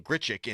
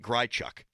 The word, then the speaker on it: Grichuk: Callis was very close to the microphone, and I think it's because he knows it's pronounced Randall Grichuk and not Grichuk.